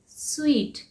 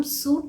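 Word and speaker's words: suite: next word क्या है एस यू आई टी आई यानी के स्वीट इसे हम सूट नहीं बोलते हैं सूट हम उसे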